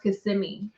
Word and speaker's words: Kissimmee: hulk fist pump in kissami just an incredible week all together uh with catching the new pigs i think it's pronounced kissimmee snow still kissing me uh and then hanging